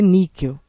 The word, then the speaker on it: níquel: é Niquel ou níquel é níquel a sílaba mais forte é a penúltima e como ela termina com l deverá ser acentuado correto é nquel e